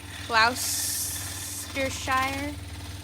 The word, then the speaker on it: Gloucestershire: Gloucestershire. Yeah. I'm bad at pronouncing things.